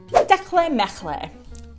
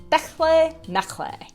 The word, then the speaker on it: techtle mechtle: And I'm pretty sure the T's in the middle are silent.